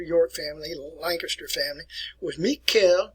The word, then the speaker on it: Mikhail: family lancaster family with mikhail miquel romanov look at it like michael miquel if you're mikhail in russia